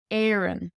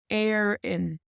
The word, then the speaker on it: Éireann: Éireann, Éireann, Éireann. And again, check obair.ie to hear it pronounced across the dialects.